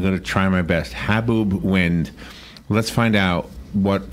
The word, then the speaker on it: haboob: So how do you pronounce it? Haboob? Haboob.